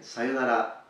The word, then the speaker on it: sayonara: next also in pronunciation we need to be careful because normally you need to learn to increase the length of the pronunciation of the O So sayonara Sayo and then put a little accent at the end sayonara foreign let's move to